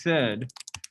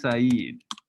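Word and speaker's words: Said: guy before it looks like his name is sed but it's pronounced saeed has anybody heard of saeed before so he's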